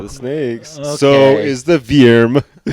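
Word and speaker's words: Vyrm: snakes so is the veerm uh that's spelled v-y-r-m veerm um did you guys like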